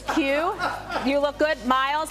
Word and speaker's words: Quay: So I have to confess, this is the brand that's spelled Q-U-A-Y. I thought it was Quay. It's Q.